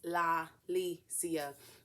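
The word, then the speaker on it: La'Lisia: my name podcast so it's la licia and a lot of people have a hard time pronouncing the law don't know why but anyway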